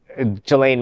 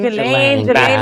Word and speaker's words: Ghislaine: And Epstein is dead, and now they are subpoenaing Ghislaine Maxwell to a hearing, and she could possibly get a plea deal.